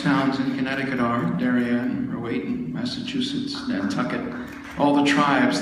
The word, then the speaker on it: Rowayton: Tell me if I'm pronouncing it correctly, Royton, Connecticut? Yep, it's an Indian name, as most towns in Connecticut are. Darien, Rowayton, Massachusetts, Nantucket, all the tribes that are no longer with us.